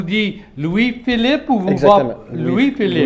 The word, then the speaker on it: Louis-Philippe: Et vous prononce, vous dites Louis-Philippe ou vous Exactement. Louis-Philippe. Louis-Philippe, oui.